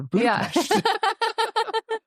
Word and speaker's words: Budapest: Is is weight tables at in Italy or Budapest or Budapest. The Pesh pronunciation is important.